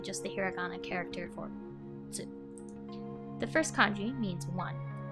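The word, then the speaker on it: つ: The first kanji is pronounced as hito, which you might remember the person kanji was also pronounced hito. And the second character is actually just the hiragana character for tsu.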